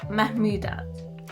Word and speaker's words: Mahmoudat: And today I have Mahmoudat. Did I pronounce it right?